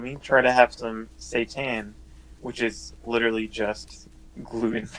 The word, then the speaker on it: seitan: gluten hmm so that's site-to-site an is it's seitan seitan is I didn't know how to say